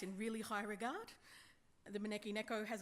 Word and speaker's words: Maneki Neko: So to pronounce it again, Maneki Neko. It sounds really sexy when a Japanese person says it. It doesn't sound quite so sexy when the Australian accent says it, but I promise you it is sexy.